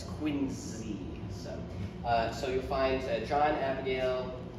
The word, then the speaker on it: Quincy: And also of note, Quincy is pronounced both, even with the president's middle name, and the city's pronounced like with a Z sound, like zipper or zoo, not Quincy.